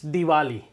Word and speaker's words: Diwali: it different ways uh it's Diwali Diva so it actually has a slight V in it yes all right so